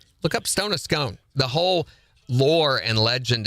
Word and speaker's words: Scone: Look up stone of scone.